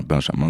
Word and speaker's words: Benjamin: Donc, moi, c'est Benjamin. Et internationalement, j'aime bien que les gens disent mon prénom à la française, donc que ce soit bien Benjamin, tu vois.